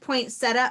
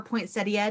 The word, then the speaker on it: poinsettia: Different poinsettia or poinsettia, depending on who you are. Some people pronounce it with the ia.